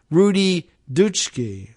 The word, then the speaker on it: Rudi Dutschke: Rufo often talks about the, quote, long march through the institutions, a phrase coined by the German socialist Rudi Dutschke, I guess is the pronunciation of that, in 1967, but frequently attributed to the Italian communist Antonio Gramsci.